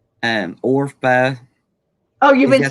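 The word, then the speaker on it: Orpah: Now I've been calling the one Oprah. Is I don't know how you say her name, but Orpha.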